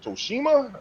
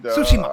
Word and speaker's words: Tsushima: Matter of fact, I'm at the end of Ghost of Tsushima, and Tsushima.